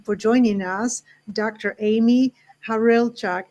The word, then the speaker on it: Hawrylchak: joining us Dr Amy harchak is that's the right way of pronouncing your last name got it right on I tried my best